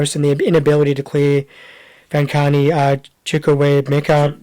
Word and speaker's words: Chukwuemeka: It was put back in by Gross, and the inability to clear Vankani Chukwuemeka. Chukwuemeka. That's the one. I'll get his pronunciation right by the end of the season, I promise.